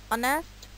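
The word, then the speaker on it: honest: हम पढ़ चुके हैं, ऐसे वर्ड्स जिनका पहला लेटर एच होता है लेकिन वो एच साइलेंट होता है, और सेकेंड सिलेबल से हम वर्ड को प्रोनाउंस करते हैं। फॉर एग्जाम्पल, जैसे आर, ऑनेस्ट। तो इस तरह के वर्ड्स पे भी आप लोग ध्यान रखेंगे कि यहाँ पे एन को यूज़ किया जाता है। तो क्या रूल बनता है, before a word beginning with a silent H एज एन आर, एन ऑनेस्ट man, etcetera.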